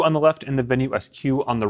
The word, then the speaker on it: Venu SQ: It's pronounced the Venue SQ according to Garmin. I asked if it was like square or square or squirle or who knows what, but it is actually SQ.